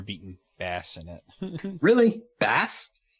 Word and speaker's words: Bass: Bass? Bass. Bass.